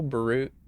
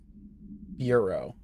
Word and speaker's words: bureau: Federal Baru. Not BU. Baru. No. Did I get Hold on. Hold on. Bureau. Federal Bureau of Investigation.